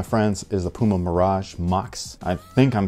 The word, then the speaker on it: Mox: here this my friends is the puma mirage mox i think i'm saying it right i really hope how else could you say it mokes mox it's gotta be mox but this is actually